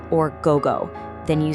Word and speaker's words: gogo: is gozen, pronounced gozen, and p.m. is gogo, or gogo.